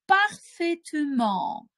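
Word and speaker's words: parfaitement: Можливо, ви вже чули слово у нас «перетворюється повільно» на слово «парфетюман». «Парфетюман» вимовляємо за мною, да?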